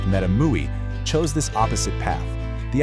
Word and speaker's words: MetaMUI: A project like MetaMUI, that's pronounced MetaMUI, chose this opposite path.